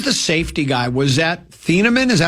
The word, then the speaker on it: Thieneman: Was that Thieneman?